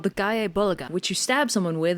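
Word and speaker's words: Gáe Bolg: I I mean I I have always heard the Japanese pronunciation gay bolg what did they say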